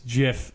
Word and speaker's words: GIF: And the guy who created the GIF goes, it's GIF like the peanut butter.